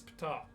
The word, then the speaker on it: Ptah: And some people go, I don't think it's pronounced Ptah. It is. I've checked. Oh, It okay. literally is pronounced Ptah, like Betue. You're like, oh, I think it's just pronounced Ta. No, it's Ptah.